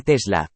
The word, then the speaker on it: Tesla: si se escribiera draganic el nombre tesla pronunciado tal como se escribe con igual énfasis en ambas sílabas en un sentido puramente